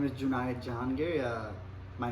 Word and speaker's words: Junayed: Well, my name is Junayed Jahangir. My name is pronounced like the word denied in June, Junayed.